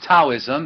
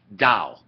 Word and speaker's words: Dao: see the tv right that's not taoism it's the dao you pronounce it with the d so we're going to